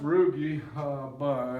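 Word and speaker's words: rugae: gastric root of Pete it pronounced roogie looks like root but these things help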